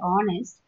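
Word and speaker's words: honest: For example, H இஸ் a consonant, but in words like our, honour and ஆனஸ்ட் the letter H is silent.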